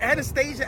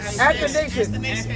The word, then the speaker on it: Athanasius: Is it Anastasia? Athanasius? How you say it? Athanasius.